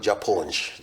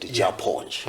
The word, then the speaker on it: Japonj: You know, they call it Japonj. Japonj is a Luo word meaning teacher. And is pronounced with a lot of respect. Japonj.